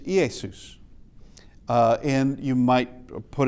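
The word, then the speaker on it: Ἰησοῦς: EOD is I as in magazine or pit. Uh and it could it could be either way depending. Uh and uh Easus is the name of Jesus in uh in Greek.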